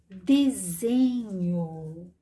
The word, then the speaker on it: desenho: próxima palavra é desenho Olha só de eu pronuncio com som de z mas na hora de escrever eu vou colocar o S esse S vai ganhar um som dizer porque ele está entre as vogais de desenho eu falo com